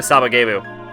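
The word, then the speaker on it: Sabagebu!: Like, there's oh yeah, it is actually Sabagebu.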